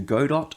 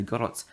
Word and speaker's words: Godot: game in god or godot as people say i think godot is the pronunciation term for it um it's because it's a t in it and look that's another